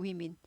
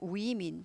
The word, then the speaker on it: women: 네, woman에서 women, woman 아니고 women. 이 WO는 똑같잖아요. 예, 스펠링은 똑같아요. 그래서 woman에서 woman 아니고 women 발음이 위로 바뀝니다.